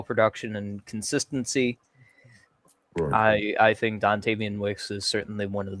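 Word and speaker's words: Dontayvion: Dontavian, I said Dontavian, yeah.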